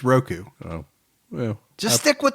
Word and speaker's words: Roku: It's not Ruku, it's Roku.